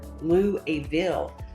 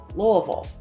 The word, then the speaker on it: Louisville: people will say Louisville or Louisville or even Lou a bill but according to Professor Patton at the University of Louisville it's actually pronounced Louisville she also said depending on how you say